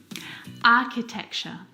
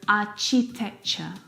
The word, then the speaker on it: architecture: and sometimes some earrings architecture architecture this one is so often mispronounced I hear architecture architecture which is incorrect the CH sound in this word is a c sound like in cat architecture